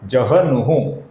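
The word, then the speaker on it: जह्नुः: तो हमें ह का पहले उच्चारण करना है। न का उच्चारण बाद में करना है।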